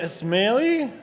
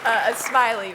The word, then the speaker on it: Esmailli: And then we have Karlee Esmailli. Is that how you pronounce it? Almost. You're so close. Esmailli from.